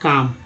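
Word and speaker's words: calm: अब ये देखिए LM जो है, ये पार्ट्स ऑफ साइलेंट लेटर वाले वर्ड, जैसे काम, L साइलेंट है यहाँ, काम।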